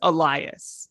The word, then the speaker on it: Elias: for me uh well how would you pronounce l-i-g-h right yeah it's elias okay okay okay i think